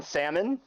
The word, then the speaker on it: salmon: Like, do you say the L in salmon? Salmon. No.